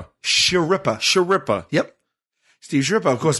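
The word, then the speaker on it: Schirripa: I don't know how to pronounce his last name. Sharippa.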